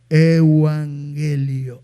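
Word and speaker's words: εὐαγγέλιον: nosotros tenemos el Evangelio Evangelio en el griego se pronuncia se pronuncia Evangelio EU pierde la palabra ángel está ahí Ángel euangelion EU significa bueno y milanuncios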